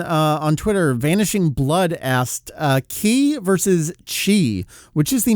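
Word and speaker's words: 気: in Chinese, but the same character in Japanese is pronounced ki with a hard K sound, just like English. And really, they're the same thing. If you take karate, you'd probably know ki.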